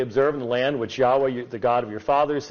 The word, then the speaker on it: Yahweh: our hymnology as Jehovah, but was undoubtedly not pronounced as Jehovah. The best estimate that we can come up with in regards to ancient Hebrew is that the divine name was pronounced as Yahweh.